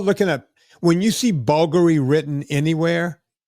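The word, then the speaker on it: Bvlgari: Like like I said, when you start looking at when you see bulgaryy written anywhere, when a word starts with a B and goes right to a V and is pronounced Bulgaryy, you know you're looking at some expensive right?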